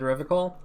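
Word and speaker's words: Revachol: interesting to tell him you said river call i like to pronounce it the hard way the old way the vespertine way the stupid way it's a secret right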